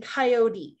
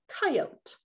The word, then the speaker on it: coyote: have heard me say both words coyote and coyote so which one is it well the proper pronunciation of this animal is coyote the mispronunciation of coyote was popularized with the